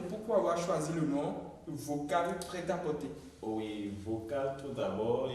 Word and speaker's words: Vokal: Chez moi, bon, pour différencier cela, j'ai juste enlevé le C qui fait le cal et j'ai rajouté le K. D'accord, donc ça fait V-O-K-A-L.